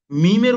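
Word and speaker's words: ميم: এরপরে দেখুন মিম, মিমের উচ্চারণ হচ্ছে এই উভয় ঠোঁটের শুকনো জায়গা, উভয় ঠোঁটের শুকনো জায়গা।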